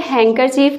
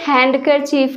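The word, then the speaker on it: handkerchief: यहाँ पे भी क्या होता है? यहाँ पे डी साइलेंट होता है, ये हैंडकरचीफ नहीं होता, हैंकरचीफ होता है। आप देख सकते हैं यहाँ पे 3 सिलेबल से देखिए, हैंकरचीफ, हैंकरचीफ। डी क्या है? साइलेंट है।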